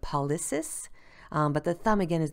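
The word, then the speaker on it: pollicis: them so you see the p-o-l-l-i-c-i-s those are attached with that thumb and i believe i'm pronouncing it wrong but paulis but the thumb again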